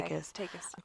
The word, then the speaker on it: Takis: It's spelled takes, and it's hard to say. Takis.